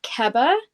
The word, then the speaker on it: Keba: So I don't know what the full length was, but the proper pronunciation of Keba is Keba.